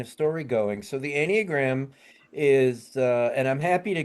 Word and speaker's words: Enneagram: I might be saying it wrong, but the Enneagram of Yeah, you did Personality. that really well. Yeah. Okay. Enneagram.